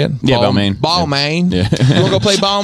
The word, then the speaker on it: Balmain: Balmain balmains that how you say it yeah ball main yeah we'll go play ball man see some